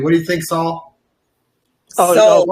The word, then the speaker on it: Saul: group, but I think Saul should submit a clip too. What do you think, Saul? Soul. We always say it's soul. Steve, I'm It's interviewing okay. you one day. People pronounce it both ways.